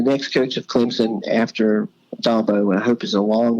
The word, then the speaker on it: Dabo: to have an issue with this the correct pronunciation is dabo okay it drives people crazy it drives people